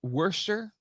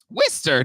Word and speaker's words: Worcester: So how do you pronounce it? Is it Worcester? Worcester.